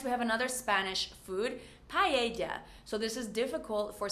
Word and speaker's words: paella: Next, we have another Spanish food, paella. So this is difficult for some people that don't know that the double L is actually a Y in Spanish.